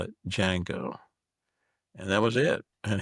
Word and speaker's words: Django: And uh and I even mispronounced the name of song, Django. Starts with a D. And I'm an idiot. So I said, "Django."